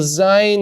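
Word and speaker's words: ז: you know it's above so Zion you pronounce za VAV you pronounce VA okay now we look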